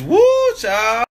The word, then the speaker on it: whew chile: Like W-H-E-W Chile. Chile? It's woo, child.